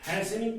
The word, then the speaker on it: hastening: इसको हैसनिंग पढ़ेंगे। इसको प्रोनाउंसिएट करेंगे हैसनिंग।